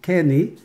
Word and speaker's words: Kinney: Mon nom de famille se prononce comme le dernier que tu as dit, c'est Kenny.